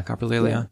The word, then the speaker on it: coprolalia: I didn't know that Tourette was not just coprolalia. Is that how you say it? Yeah, coprolalia.